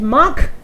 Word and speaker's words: mach: CH is kh if before CH AOU is there, and here before CH A, so this is mach and a mach.